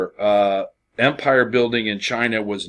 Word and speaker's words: Qin: characters by the way note his name his last name is chin XI Wong D the last syllable there D is the uh is the title um and so that's